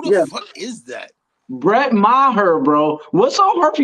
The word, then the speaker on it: Maher: Brett Murr with 2. Who the fuck is that? Brett Maher, bro.